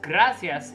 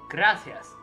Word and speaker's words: gracias: be Barcelona hmm it's gracias in or it's gracias in um in Central America and South America but in Europe is gracias like it's a th not an s yeah because like uh